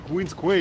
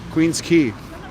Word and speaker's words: Queen's Quay: oh okay down to queen's quay usually to to really that's really far down oh my god queen's key queen's key it's pronounced i think okay queen square what's